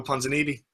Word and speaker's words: Ponzinibbio: Our pronunciations over the last couple of years must be absolutely terrible. It's Santiago Ponzinibbio.